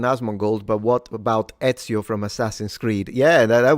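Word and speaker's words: Ezio: It's just e z i o in Italian. Etsio auditori if you want to say it the Italian way.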